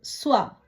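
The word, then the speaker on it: soie: இப்படியாக ஓ இ என்ற சத்தம் வரும் பொழுது உவா என்று உச்சரிக்கணும்.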